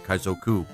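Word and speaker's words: 海賊: I should I should pronounce it properly. Kaizoku means pirate.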